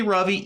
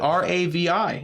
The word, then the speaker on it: Ravi: Listen, his name is actually Ravi, even though his country, his culture failed him by spelling his name with the R-A-V-I. It is actually pronounced Ravi. He is corrected.